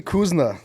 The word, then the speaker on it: Kouzouna: Yeah, Kouzouna. Thanks, for being the first guest. Like that. Why, is that wrong? Am I pronouncing it wrong? No, you're actually pronouncing it right.